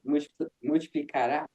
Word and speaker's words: multiplicará: I have one suggestion about emphasis, the emphasis of multiplicar. I think you say multiplicará.